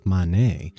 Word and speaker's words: Manet: the first floor and no i did not pronounce that wrong this is manet which some confuse for claude monet who was the super